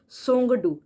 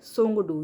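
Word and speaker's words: Tsongdu: उसका जो संसद है सोंग डू ठीक है टी साइलेंट है सोंग डू यह आप याद रखेंगे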